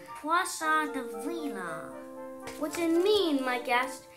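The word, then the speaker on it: poisson d'avril: Another duckling who happened to take French said, "You pronounce that by pinching the bridge of your nose and saying, Poisson de Vila."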